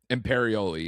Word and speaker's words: Imperioli: Chris Imperioli, right? Is that how you pronounce it? Imperioli, yeah.